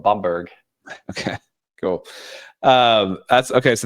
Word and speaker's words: Bamberg: The Americans pronounce it Bamberg, but I think the Germans call it Bamberg.